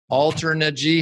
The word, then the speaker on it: Alternergy: I'm here with Taylor Clark, the founder of Alternergy. How do you pronounce that?